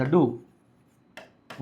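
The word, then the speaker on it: door: डोर नहीं पढ़ते पूरा उसको डो पढ़ते हैं। लास्ट का आर हल्का साइलेंट रहता है।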